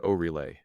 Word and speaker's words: Oreille: Patrick Oreille, pronounced Oreille, Miss Bridget, pronounced Brizay Oreille, Mrs.